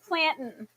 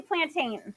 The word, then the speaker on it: plantain: Okay, people pronounce it like plantin. So, we say plantain.